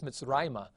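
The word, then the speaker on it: מִצְרַיְמָה: accusative on it, that the accent keeps its spot. It does not move. It's not at the end of the word. It stays here, and you would pronounce this Mitzrayma.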